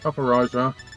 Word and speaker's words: Copperajah: They've got a Sinistra, a Galarian Slowbro, Latios, and a Copperajah. Is it Copperaja or Copperajah? How do you say it? Copperajah. Copperajah, right, okay.